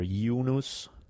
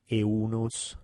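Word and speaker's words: Eunus: well the name is there are several I've already pronounced several different ways whether yunus eunos depending on whether you emphasize them or ancient Latin pronunciation a more anglicized one take your pick I'm just gonna try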